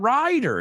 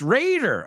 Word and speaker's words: Raider: well that's the thing it's not Rider it's Raider oh my goodness we're never